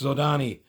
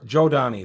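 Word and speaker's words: Zhodani: There's some dispute as to how that's pronounced. I say Zodani. I pronounce it phonetically, but I have heard Jodani. However you want to pronounce it, that's up to you.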